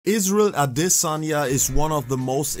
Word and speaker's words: Adesanya: And yes, you pronounce that name exactly like that.